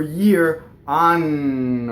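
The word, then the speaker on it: anno: are engaged right right so the word for year on or the word for a woman gone nah right so double and you have phonation right the word for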